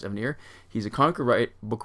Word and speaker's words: Evanier: been really clear that his name is actual pronounce Evanier he's a conquer write book writer he is